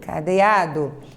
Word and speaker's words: cadeado: Então, você pronuncia o O com som de U, cadeado.